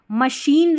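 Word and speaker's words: machine: और CH को मशीन रहती है ना, वहाँ पर CH रहता है तो वहाँ पर श पढ़ते हैं।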